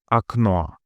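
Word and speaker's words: окно: Third, akno window. In akno, the final O is stressed and fully pronounced as it is in the alphabet. A no. The first or being the closest pre-stressed vowel is pronounced briefly according to firstderee reduction with a sound similar to that in quickly spoken fun or sun. We just discussed a.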